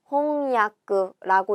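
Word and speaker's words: 翻訳: 홍야크라고 읽어줍니다. 답은 몇 번이죠? 2번이에요. 홍야크. 타금이 들어가지도 않고 야쿠랑 요쿠를 헷갈려서도 안 되는 거죠.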